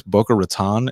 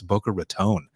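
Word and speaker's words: Boca Raton: just I want to make sure that I'm pronouncing it right because uh I was in Florida once and I said is this Booker ratan and they go don't you ever say that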